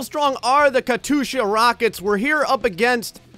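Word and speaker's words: Катюша: I looked up the pronunciation. Of course, you guys gave me a lot of feedback. You were all saying Katusha.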